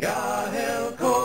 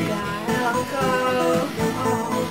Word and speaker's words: Gaelco: Gaelco. That's how you pronounce it. They told you. Gaelco.